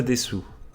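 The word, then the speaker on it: です: On enchaîne les amis avec du coup Solewa Rei no Shiwaza Desu. Des, parce qu'on ne prononce pas le U se fait aspirer du coup.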